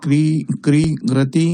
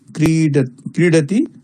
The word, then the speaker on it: क्रीडति: अहं पिबामि अहं क्रीडामि ड इति वर्णस्य उच्चारणं ड इति भवति द क्रीरति इति वयं बङ्गीयाः क्रीरति इति उच्चारणं भवति किन्तु शुद्धम् उच्चारणं क्रीडति अहं क्रीडामि ड उच्चारणं